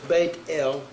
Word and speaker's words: Bethel: name of yahweh word bethel or they got bethel it's bait el means the house of l the number there